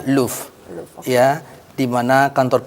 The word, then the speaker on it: Louvre: Oke, Kiryat ini di bawah grupnya Louvre atau dibacanya Louvre.